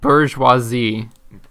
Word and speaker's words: bourgeoisie: It's pronounced bourgeoisie.